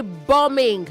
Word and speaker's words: bombing: Say bombing. Not bombing. Bombing. Bombing. The B after M is silent.